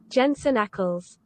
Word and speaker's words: Jensen Ackles: definitive you found YouTube video titled how to pronounce Jens I'm unbiased yeah all right Jensen Ackles oh all right then Jensen Ackles oh the